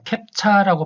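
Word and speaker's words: CAPTCHA: 자, 캡차라고 발음합니다.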